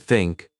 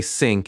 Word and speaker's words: think: Take the word think. Many learners say sink instead of think.